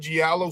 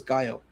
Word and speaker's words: giallo: See, so when I think about, I've never heard it pronounced that way. I always thought it was Gallo. But anyways, it doesn't matter. Giallo. Giallo means yellow in Italian.